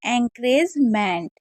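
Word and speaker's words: encouragement: अब यहाँ पर देखिए ओ यू हमारा साइलेंट रहता है, रे हम इसे पढ़ रहे हैं, एंकरेज हो जाएगा मैंट, एंकरेजमेंट।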